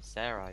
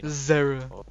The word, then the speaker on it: Zara: Oh, Zara. You're saying Sarah. Zara.